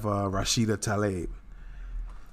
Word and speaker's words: Rashida Tlaib: And so now we have Rashida Tlaib. That's how I'm going to pronounce it anyway.